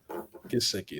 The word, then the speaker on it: Gesicki: Gesicki. That's how you say it? Yeah. Gesicki.